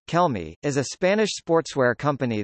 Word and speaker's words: Kelme: millennium sports SL trading as Kel me Spanish pronunciation Kel me is a Spanish sportswear company that creates and